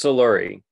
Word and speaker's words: Soluri: we start just uh give me the proper pronunciation of your last name I don't want to mess it up it's soluri okay I was pretty sure but I wanted